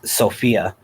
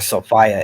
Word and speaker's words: Sophia: humanity is female um her name is sophia or sophia is the proper pronunciation of it um the